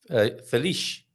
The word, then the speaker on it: feliz: How do you pronounce the Z at the end? Feliz, like a sh sound. Shh, that's Yeah, right. yeah. Shh. The sound is not z, but the sound is sh, right?